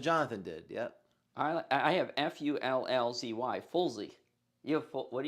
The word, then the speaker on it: Fullzy: He did Fulls Y. That's what I did. No, it's please. It's pronounced Fullzy.